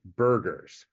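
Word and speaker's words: Berger: pronounced be's disease but others have pointed out this is a German name and that it should be pronounced Burgers well I think think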